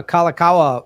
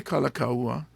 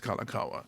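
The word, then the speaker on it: Kalākaua: that i don't know i don't really know it could be kalakaua or kalakawa but the way locals say it is a certain way which is kalakawa like i think that's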